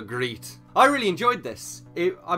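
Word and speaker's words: Griet: I googled it and apparently it's something like Crete but that just sounds like I'm clearing my throat so I might just call her grete I really enjoyed this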